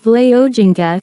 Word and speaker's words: Wole Soyinka: Akinwande Olawole Babatunde Soyinka, born the 13th of July 1934, known as Wole Soyinka, pronounced Vle Ojinka, is a Nigerian playwright, novelist, poet, and essayist in the English language.